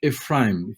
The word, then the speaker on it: Ephraim: If you would take the word Oprah and you add the word Ephron and the word Afra, it almost sounds like Ephraim.